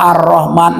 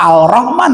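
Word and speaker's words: الرحمن: Contoh Ar-Rahman, ndak Al-Rahman bacanya, tetap Ar-Rahman.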